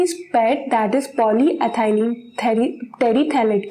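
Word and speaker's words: polyethylene terephthalate: इस pad that is पॉलीएथाइलिन Terry थैलेट के बनते हैं. Hair P is silent. तो ये प्रोनंसिएशन क्या होगा, टेरी थाइलेट.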